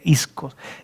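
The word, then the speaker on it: ἰσχύς: Se escribe ischus, pero se lee iskos, de su fuerza.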